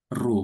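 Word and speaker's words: ρ: ya atau dilambangkan dengan rho seperti huruf P ini bacanya rho Bapak Ibu ya.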